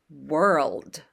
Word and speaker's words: world: one syllable word but think of it as two syllables were old were and then you